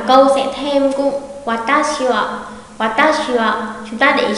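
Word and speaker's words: は: chủ vị, cho nên sẽ đọc là wa, wa. Không đọc là quá nhá, không phải là đánh dấu sắc hẳn cho nó, mà đọc hơi hơi bật lên một chút thôi.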